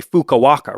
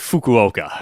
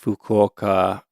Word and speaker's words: Fukuoka: Fukuoka, but uh but we're going to say it like Americans. We're just going to say Fukawaka, right? I think I'm going to go with Fukuoka.